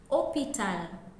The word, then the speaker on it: hôpital: For example, we have hospital in English, but in French we say hôpital, and you can see that the H in hôpital is silent. Now this H in hôpital is what we call H muet, silent H in English.